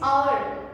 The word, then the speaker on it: hour: It's hour. Hour में है तो H. H एक कॉन्सोनेंट है, बट जब इसकी प्रोनाउंसिएशन hour हम प्रोनाउंस करते हैं तो उसमें अ की साउंड आती है।